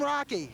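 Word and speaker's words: Roche: you doing well how'd you get the name Rocky uh my parents made me that well that's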